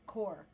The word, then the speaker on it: corps: you know what's crazy you can write out core c o r PS and I have not met a convention that pronounce it core which I think is weird well it's because most